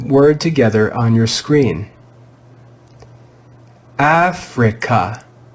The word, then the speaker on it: Africa: on your screen africa africa africa you can hear that the stressed syllable is f the vowel i is in a syllable that is not stressed therefore it's red with the short i sound e we've learned